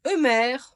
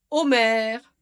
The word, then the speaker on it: Omar: Et il est prononcé Eumer, Omer, Oumar, Oumaïra par les francophones et même les turcophones.